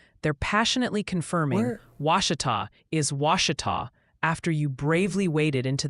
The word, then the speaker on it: Ouachita: Also, the Pronunciation Parliament is back with a vengeance. They're passionately confirming Ouachita is Ouachita after you bravely waded into that hornet's nest of vowels, and that Chickett County is Chico.